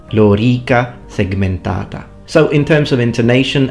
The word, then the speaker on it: lorica segmentata: you hear things such as lorica segmentata it's lorica segmentata lorica segmentata so in terms of intonation and vowel quality if you teach classical pronunciation to an Italian that's when you get